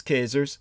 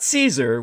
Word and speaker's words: Caesar: with the great Julius cers that's the correct pronunciation in the Latin not Caesar which is an Anglo corruption but CER from Once